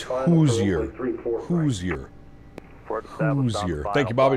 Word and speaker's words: Hoosier: Just FY, Hoosier is pronounced differently. Think of luge down a hill.